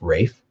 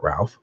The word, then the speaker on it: Ralph: It's Rafe, not Ralph.